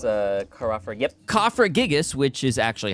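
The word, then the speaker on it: Cofagrigus: finally I find something it's a ker yep cofra gigas which is actually how it's pronounced Pat is actually the coffin Pokemon I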